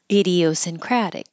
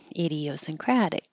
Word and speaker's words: idiosyncratic: I mean agreements idiosyncratic again with the K hold it instead of C releasing it hold it up there idiosyncratic idiosyncratic reciprocal reciprocal inadequately the